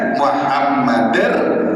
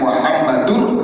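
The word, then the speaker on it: محمدًا: Kemudian asyhadu anna Muhammadar Rasulullah, jangan Muhammadur Rasulullah.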